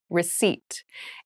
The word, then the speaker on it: receipt: a very interesting spelling there is a p in the spelling of this word but we do not pronounce it the pronunciation is receipt a receipt receipt is